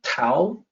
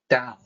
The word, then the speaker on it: Tao: I hear people pronouncing Tao, the Tao of this or that, Taoism, Taoist, and I would not hesitate to say that, well, it's actually Tao with a D sound, not a T sound.